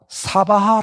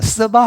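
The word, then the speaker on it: स्वाहा: 말이 굉장히 많답니다 일례로 우리가 사바하 라고 하는 발음은 요 실제로 쓰바 합니다 써봐 써봐 근데 스바하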